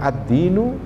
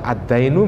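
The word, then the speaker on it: الدين: dari manusia adalah pertama ad-dinu, agama. Ad-dinu, agama. Bacanya ad-dinu, kalau dibaca ad-dainu menjadi utang, lain. Hati-hati bacanya ya. Ad-dinu, ya agama, bukan ad-dainu. Kalau dibaca ad-dainu jadi utang nanti.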